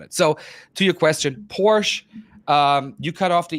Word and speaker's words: Porsche: Fant pora and it's Porsche Americans just cut or British Speaking people english- speaking people they just cut the off they don't they don't pronounce the e at the end but well the American